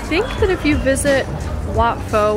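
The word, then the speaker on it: Wat Pho: that if you visit watfo which is probably pronounced what po we realize because they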